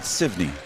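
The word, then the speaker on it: Sevigneny: It's spelled S-E-V-I-G-N-E-N-Y, and I was told to pronounce it Sivney.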